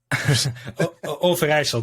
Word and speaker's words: Overijssel: It's spelled Overijssel. Overijssel.